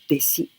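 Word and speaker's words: 弟子: So together we pronounce deshi. Deshi.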